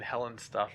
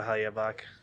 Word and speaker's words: Hellebuyck: I mean, for between Hellebuyck and Howard, No, we're between Helen stuff and Howard. I just want to correct that real quick. I have to go Hellebuyck.